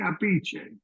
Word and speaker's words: Appice: from Brooklyn in Italy in Italy it's Carmin aiche capiche yeah I knew because